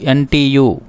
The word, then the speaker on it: Ubuntu: is listening about ubuntu the pronunciation of ubuntu is ubuntu what is ubuntu let's